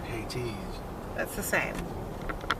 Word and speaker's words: Hades: I didn't say Hades, I said Hades.